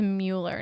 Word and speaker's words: Mueller: never seen ferris bueller this is mueller not bueller but they rhyme oh my god we're